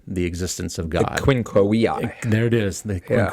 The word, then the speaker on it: Quinque Viae: The Quinque Viae. There it is, the Quinque Viae. Even though it's spelled with a V, in Latin, V is W, like the German.